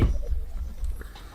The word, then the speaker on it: Givenchy: It's Let me pronounced Givenchy. wait. Givenchy.